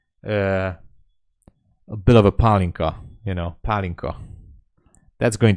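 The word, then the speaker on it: pálinka: in the world with a good trade yeah palinka uh Hungary Hungary confy trator yeah something like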